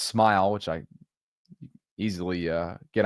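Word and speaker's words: Smael: Smile Mundon, by the way, it's pronounced Smile, which I easily uh get on board with with that type of uh with that type of name.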